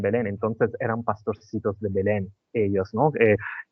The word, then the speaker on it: Belén: pasó en en Belén no sé cómo se dice en castellano Belén Belén Belén Belén ah Belén se encontraban en Belén en italiano decimos betleem o betleem vale se encontraban todos